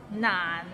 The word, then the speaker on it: 難: Nan, it means difficult and it's difficult to pronounce. So it starts with n and ends with another n. Nan, and it's in a low tone, so nan.